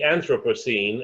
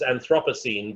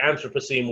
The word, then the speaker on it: Anthropocene: So enter the Anthropocene, and some people like to pronounce this as Anthropocene, but think of it as anthropology in the pronunciation.